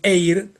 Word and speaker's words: Eyre: El aire, R y eir se pronuncian igual. el apellido de la de la de la autora y aire en inglés, ¿no?